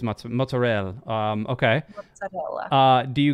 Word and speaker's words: mozzarella: so here's a question do you pronounce it mozzarella or is it motz fresh mutts oh good question mozzarella okay it is mozzarella um okay uh do